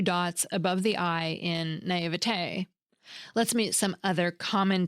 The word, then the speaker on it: naïveté: Take naivete. It has two dots over the letter I, called a diaeresis, that tell us to pronounce the I and V as separate sounds, not as one smooshed together sound.